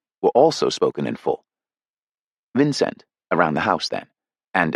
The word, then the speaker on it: Vincent: The second syllable given equal weight with the first by the heavy accent of the elder members, not swallowed, rhyming with went.